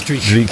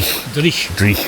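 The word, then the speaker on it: dreich: Do you call it mizzle or do you call it Dreek? It is dri. Yeah, dri. Driek. Right. I've been saying it wrong.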